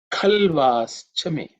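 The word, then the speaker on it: खल्वाश्च मे: Khalvaschame, khalvaschame, khalvaschame. In terms of pronunciation, the first letter kha has to be said with aspiration, extra aspiration, because it's the second letter in the ka varga.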